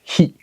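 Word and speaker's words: 火: Celui-ci, c'est le kanji du feu, qui se prononce hi.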